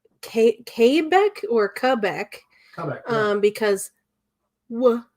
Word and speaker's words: Quebec: apparently uh the w sound does not exist in french words so oh it's quebec